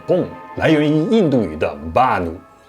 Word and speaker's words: Bön: On l’appelle Bon benzène Le mot tibétain se prononce bon Dérivé du mot indien